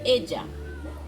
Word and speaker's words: ella: français, en espagnol, pardon, ça ne se prononce pas comme une seule L, se prononce comme j. Ici, on dit ella.